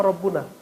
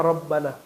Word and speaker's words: Rabbana: barangkali dua kata maka tidak dibaca Malikul Mulki bacanya Ya malikal Mulki coba Antum doa Rabbana apa rabbuna Rabbana apa rabbuna Kenapa Rabbana enggak boleh loh sembarangan baca fathah jadi Al